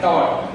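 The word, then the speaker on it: tau: Equal to are cross F, इसको बोलते हैं टॉर। सिंबल को पढ़ते हैं टॉर, टॉर T-A-U टॉर। इस सिंबल का प्रोनाउंसिएशन है, जैसे यह भी हुआ तो सिंबल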